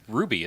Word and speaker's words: RWBY: the one 'Cause that's it's spelled anime. RWBY. It's Ruby, isn't it?